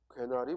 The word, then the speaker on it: 괴나리: 괴나리 보찜입니다. 개나리가 아니라 괴나리. 그리고 구레나룻이죠. 구렛나루가 아니라 구레나룻. 그 다음 마늘쫑이죠.